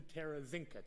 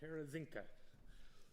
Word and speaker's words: Terezinka: you're just learning slovenian there's a way to figure out how to say it if you say tear the sink out you're gonna get it close and then from there you can morph it into terrazynka terezinka uh a band actually